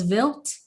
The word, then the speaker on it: Vilt: to ask you you said your name was vilt like yes built like v-i-l-t would we spell it like that yes okay thank you very